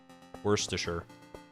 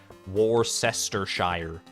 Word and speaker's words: Worcestershire: first saw the word when I first saw it spelled out my brain wanted to be like oh I see like uh like like sister in the middle there and I was like War sister Shire like it wanted me to like start a new syllable I guess at the at the at the sir part but you don't do that it's like Worcester sure